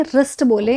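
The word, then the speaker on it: wrist: तो उसको व्रिस्ट ना बोले, रिस्ट बोले। इसमें डब्ल्यू होता है क्या? साइलेंट।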